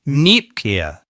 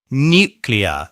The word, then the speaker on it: nuclear: They add in an extra ya sound. Make sure you get it right by saying nuclear, nuclear.